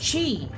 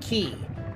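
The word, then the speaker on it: Qi: do not have enough shoot he's name is pronounced with the chinese oh so it's chi oh i'm sorry i thought it was uh the hard the hard q like key so it's chi okay thank you i appreciate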